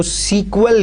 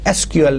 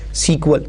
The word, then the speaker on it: SQL: लेकिन स्टिल जो है अभी भी मतलब इसको सीक्वल ही कहा जाता है. समटाइम्स अगर आप प्रोनाउंसिएशन लोगों से सुने तो वो इसको सीक्वल ही कहते हैं, गो के जो ऑफिशियल जो इसका नेम है that is SQL, नॉट सीक्वल.